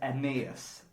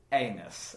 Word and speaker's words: Aeneas: clarify from the get-go his name is Emmaus and yes don't say anus okay cuz it looks a bit like a nurse does the like anus